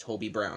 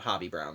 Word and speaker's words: Hobie Brown: either way yeah apparently his name is actually pronounced Toby Brown not hobby Brown like I've been saying so there you go